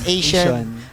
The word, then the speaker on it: Acion: Ang pronunciation Asian. Asian. Okay. Asian arena.